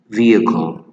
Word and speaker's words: vehicle: So we pronounce this one, the letter H doesn't sound, and the second I sound like vehicle.